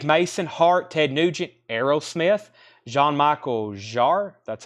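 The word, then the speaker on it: Jean-Michel Jarre: I don't know if we've had this as a Japanese pressing Santana Dave Mason Hart Ted Nugent Aerosmith John Michael jar that's how you say his name Frank Moreno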